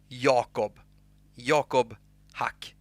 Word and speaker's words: Jakob haQ: So basically, Jakob haQ. That's how you pronounce my name.